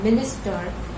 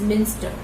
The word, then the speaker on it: Minster: Mystery in the mister many readers mispronounce it as mystery in the minister but it is Minster it's by Susana gryogi